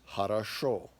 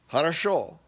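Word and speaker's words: хорошо: It's harasho. Okay, harasho.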